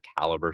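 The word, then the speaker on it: Calibre: the open format that like your Calibbre server caliber server that's how you pronounce it technically um you know can um host on your computer.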